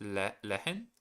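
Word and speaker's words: Lehren: Uh, you don't really have to pronounce the the H from Lehen. Oh, okay. So, it's just leen le.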